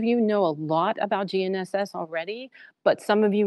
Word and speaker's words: GNSS: how esbas helps gnss can everybody pronounce gnss you know the G's silent it goes and sbass is